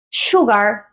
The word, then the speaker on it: sugar: lo que pasa aquí con azúcar es que no es Sugar sino que tendría un sonido parecido a lo que es la sh en el español Sugar bow Sugar Bowl Y tenemos la presencia de